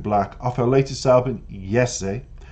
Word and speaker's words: Jessie: Born in Canada to Colombian parents, Reyez, who pronounces Jessie as Yessie. So there's two artists that you have to understand. Six Lack is Black and Jessie is Yessie with a Y, because